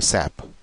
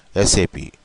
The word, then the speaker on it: SAP: aware of the terminology, they'll be calling it as uh, what you call SAP, but it's a very wrong way of pronouncing. You should be called as SAP.